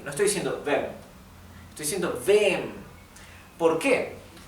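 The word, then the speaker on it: wem: v v a quién fíjense como yo estoy diciendo vem estoy pronunciando la e más larga e no estoy diciendo vem estoy diciendo vem por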